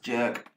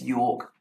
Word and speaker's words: York: We have Lucy York, who I've found it's not pronounced jerk, it's York, running the 800 metre leg, finishing off with Lahana Reeves, running the 1600 metre leg.